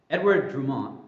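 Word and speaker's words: Édouard Drumont: La Libra parole Justin is that how I pronounce it that's right yes I got FR thank you okay so la Libra pero Edward drumont is that right yeah wow I I always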